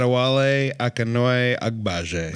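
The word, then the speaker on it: Adewale Akinnuoye-Agbaje: His name is, pronounce it please, Scott. Adewale Akinnuoye Agbaje.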